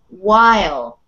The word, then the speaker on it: while: here this word is while wow wonderful thing about the english language there are no rules so in this case the uh h is silent and you pronounce the w okay that's so hard